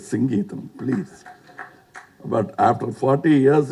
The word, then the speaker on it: Singeetam: For once and all in Kodambakkam, there was always a confusion how to pronounce his name. And the Tamil Nadu used to get very upset because they Mr. Sangeetam. No, it is Singeetam, please.